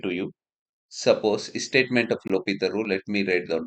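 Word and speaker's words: L'Hôpital: H is silent here. So L, L'Hopital rule. H is silent, so we are calling as L'Hopital rule.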